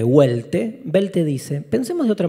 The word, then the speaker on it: Welte: Welte se escribe con W, Welte.